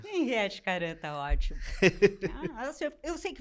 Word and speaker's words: Henriete Karam: Hoje vamos falar com Henriette Caram, né, sobre literatura, direito, filosofia e diversos outros temas.